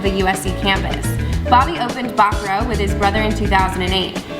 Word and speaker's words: Bacaro: she still calls it barcaro so how do you actually s so yeah the right way to say it's uh bakro but I gave up